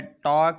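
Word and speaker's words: talk: L आया है तो इसलिए हमने L को साइलेंट रखा। इसी तरह कॉफ है, इसी तरह वॉक है, टॉक है, कुड है और शुड है।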